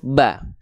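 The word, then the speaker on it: ب: ini namanya adalah huruf ba nama aslinya ketika dia tidak berharakat memang sudah dibacanya ba gitu oke dibacanya memang sudah ba teman-teman sekalian ya Nah cara melafalkan huruf ba sama seperti kita melafalkan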